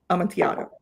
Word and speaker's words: Amontillado: You have the one in the Amontillado. Mm-hmm. Okay. In the yeah, two L's make a Y, basically.